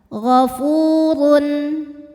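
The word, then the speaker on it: غَفُورٌ: adalah panjang dua harakat ghaofurun huruf ro dibunyikan secara tafkhim karena berharakat dhamah tanwin maka dibaca ee maka dibaca tebal ya gofurun kemudian ada izhar halqi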